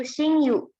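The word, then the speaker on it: 親友: Kemudian di sini juga bacanya pakai yu, yaitu shinyu.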